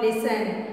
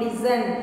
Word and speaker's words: listen: But Mangu did not listen. The word listen. Please listen. L-I-S-T-E-N. Listen. How do we pronounce it? Listen. T is silent. T is silent. T is not pronounced.